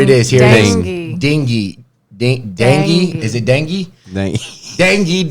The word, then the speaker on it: dengue: But they said there's no meds for the dengue virus or viral Are you disease. pronouncing that right? That's dengue.